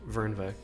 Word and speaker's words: Fernweh: Well, Fernweh. It's like Fern something, isn't it? Fernweh, yeah. Yeah. Kath Fernweh. I'll just say it like that. If it's German, it's Vernweh.